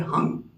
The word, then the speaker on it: हं: चक्र का वो है हंग ह ह पे अनुस्वार लगा हुआ है बिंदी उसका उच्चारण हम नहीं है उसका उच्चारण है हंग तो हंग हंग हंग